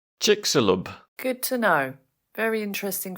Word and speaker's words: Chicxulub: that is very cool the pronunciation according to the internet is Chick salub good to know very